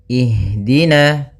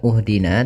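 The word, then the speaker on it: اهْدِنَا: Maka kita baca di sini bukan uhdina tapi ihdina.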